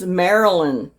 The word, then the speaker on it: Marilyn: And I pronounced her name wrong. It's Marilyn.